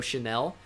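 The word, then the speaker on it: Chenal: wisconsin players we have leo chanel even though it's spelled chana leo chanel logan brus uh danny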